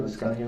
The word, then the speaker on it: Liscano: Liscano? How do you say it, Liscano? Liscano. Liscano.